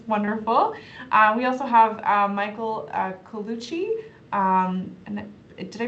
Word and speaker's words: Colucci: We also have Michael Colucci. And did I pronounce that correctly?